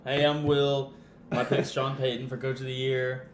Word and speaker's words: Sean Payton: My pick's Sean Payton for Coach of the Year. No, Sean Payton, not John Payton.